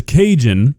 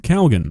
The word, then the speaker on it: Cajun: And somehow, K is pronouncing it Calgon. Now look, you call this Cajun seasoning, I'm not gonna be that upset, but Calgon, that's 2 letters that don't exist in this word.